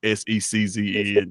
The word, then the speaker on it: SECZN: It's pronounced just like you would pronounce ESPN, where you just say, if you just say the letters in the name of it, SECZN, you kind of get there.